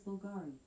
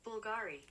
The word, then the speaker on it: Bulgari: you meant be l g i it is pronounced as Bulgari no God she is not listening Bulgari okay so we have Bulgari Rose perfume okay